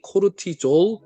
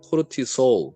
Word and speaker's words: 코르티솔: 자, 이 두 개를 통해서 결국에는 스트레스 호르몬, 스트레스 호르몬은 이제 코르티졸, 발음이 코르티졸, 코르티솔 둘 다 괜찮습니다.